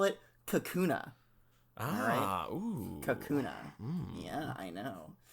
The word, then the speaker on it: Kakuna: it's a cocoon boy cocono kakuno that's it no Kakuna Kakuna that's the alolan pronunciation kak ah very very